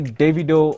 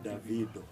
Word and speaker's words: Davido: Speaking of Nigeria and Nigerian men, do you say, a man asked you guys, how do you pronounce his name? Do you say Davido or Davido? Davido.